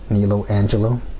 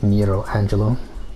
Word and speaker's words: Nero Angelo: kind of revealed that he's Nilo Angelo, or Nero Angelo, well, however you want to pronounce that, either R or L.